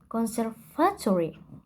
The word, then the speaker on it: conservatory: For the word stress in conservatory, she should put the stress on fa. So it should be pronounced conservatory.